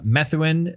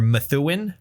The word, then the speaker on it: Methuen: Starting out as sort of a hardcore or metallic hardcore band, originating from Methuen, Massachusetts, or Methuen was probably how it's said, which is kind of a suburb to the northwest of Boston.